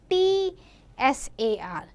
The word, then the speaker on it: Tsar: Sometime we write CZAR and sometime in few books you will find TSAR. But the pronunciation is Tsar.